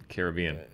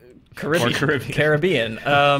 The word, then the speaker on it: Caribbean: five five total yes okay yeah and two pronunciations of karat carob Caribbean Caribbean I haven't enjoyed a single I haven't enjoyed